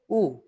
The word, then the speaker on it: U: তে তারপরে আসি উ এখন ইংরেজিতে আমরা কি বলেছিলাম ইউ এটা হচ্ছে উ তারপরে হচ্ছে ফাও একদম